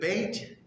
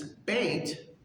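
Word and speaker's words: ב: So, for instance, Beit, if it's got the little dot in the house, it would be pronounced B, or baby, right? If there is no little dot there, it would have a softer B sound, like V, kind of a V sound.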